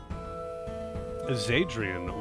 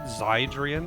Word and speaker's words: Zadrian: You know, the only reason why I would know to pronounce it that way, I would have said Zydrian or something, but that's how Celerin pronounces it, so I'm gonna go with that.